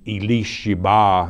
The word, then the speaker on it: Elisheba: Interesting to note, Elisheba, as it's pronounced in the Hebrew language, was also the name of Aaron's wife.